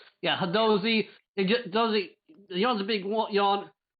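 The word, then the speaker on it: Hadozee: I can't pronounce the monkey race name. Hadozi. Yeah, Hadozi.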